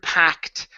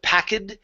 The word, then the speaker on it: packed: last word for use the word packed packed the ed is 80 sound instead of packing the word is packed but good good um